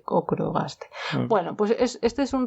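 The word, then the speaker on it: ochrogaster: Estoy mirando, es que es ocro, pero con CH. Pero yo creo que se dice ocrogaster.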